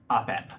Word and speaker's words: Apep: Apep. How do I spell that? A-P-E-P.